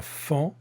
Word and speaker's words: faon: marque de conjugaison et un faon je vois le son en qui s'écrit f aol il y à quelques